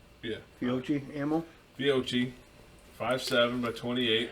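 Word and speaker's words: Fiocchi: How do you pronounce that? Fiochi. Yeah. Fiochi ammo.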